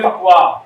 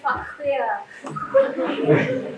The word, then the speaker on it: Farquhar: You mean like Sang Nila Utama, Stamford Raffles and William Farquhar (mispronounces)? It’s William Farquhar.